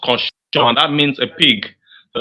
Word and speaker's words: cochon: Please, it's couchon, but it's better to avoid that word for a beginner because there's another word that means that sounds like that, which is pronounced cochon.